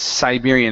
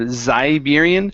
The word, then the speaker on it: Siberian: other one yeah so it's Siberian instead of zian Sai Siberian Siberian okay good good nice